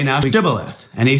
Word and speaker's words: Shibboleth: If he say nay, then they said unto him, say now Shibboleth. And he said, Sibboleth, for he could not frame to pronounce it right.